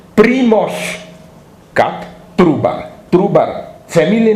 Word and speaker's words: Primož: The founder of Slovene nation, the first books published, is a guy called Primož Trubar. Trubar, family name, Primož with Z, with like Žižek.